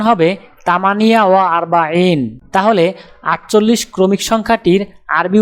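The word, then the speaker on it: ثمانية وأربعون: উচ্চারণ হবে তামানিয়া ওয়া আরবাইন।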